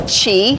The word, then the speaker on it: qi: to help poor more we call it chi she is basically the energy that's running through your body it's spelled q-i we pour some extra